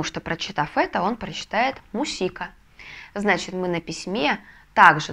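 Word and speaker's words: música: когда это может быть возьмем к примеру слово музыка по-испански будет мусика мусика но если мы напишем так как вы видите на экране то как тогда по логике по правилам мы должны будем прочитать Давайте рассуждать А у нас это гласная значит ударение мы должны поставить на предпоследний слог и получается что мы написали с вами слово не мусика А мусика мусика мы написали То есть получается мы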